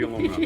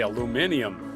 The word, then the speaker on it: aluminium: Recycle the aluminum. There you go. These are a fun little thing. All right. As you say in England, you say aluminium.